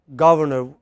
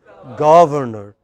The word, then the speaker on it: governor: So, it is not governor, the correct pronunciation is governor, not governor.